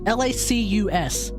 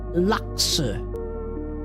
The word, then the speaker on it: Lacus: I say the Japanese, no, L-A-C-U-S. The English, it's apparently German, Lacus. But in the Japanese pronunciation, you don't say Lacus. There's no they don't say lacus. They say laksu. I say laksu, but it doesn't matter.